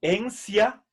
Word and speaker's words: entia: Entonces, fíjense, recuerden que la sílaba ti delante de vocal la pronunciamos como si. Encia es la pronunciación castellana.